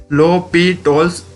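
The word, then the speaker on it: L'Hôpital's: It is pronounced as L'Hopital's rule.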